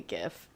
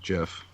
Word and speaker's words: GIF: just i'm just glad you're saying gif not jeff it's graphic interface right it's a hard g yeah there's yeah it's a hargee so which can we